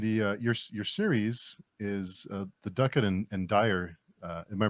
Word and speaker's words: Duckett and Dryer: And the your series is the Duckett and Dryer. Am I pronounced that right?